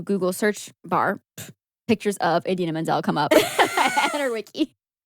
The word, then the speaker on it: Idina Menzel: John Travolta mispronouncing Idina Menzel's name. Adele Dazeem. The wickedly talented Adele Dazeem.